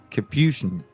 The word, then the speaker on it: capuchin: It's like chin at the end. Capuchin or... They're super cool. It's Capuchin. Capuchin. Is that right? Yeah, I was way off, man.